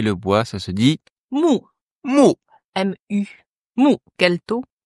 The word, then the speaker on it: 木: Aujourd'hui, c'est le bois, et le bois, ça se dit Mu. mou. M-U. Mu. Quel ton? 4e ton. Ouais. On s'énerve. Mu. comme en français, mu, M-O-U. Mu.